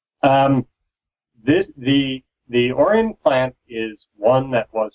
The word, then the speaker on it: Orion: The Orin plant. Um, accent on the first syllable, not the second. Um, this the the Orian plant is one that was set up to produce the subcompact sonic in the US.